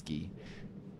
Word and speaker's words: Guy: David doesn't let people into his inner circle, but because of the trust we had built through Guy, his name's Guy, but in French it's Guy, he trusted me and we just became friends.